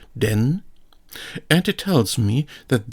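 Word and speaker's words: 電: Here we have the character for electricity with the pronunciation den, and it tells me that this character is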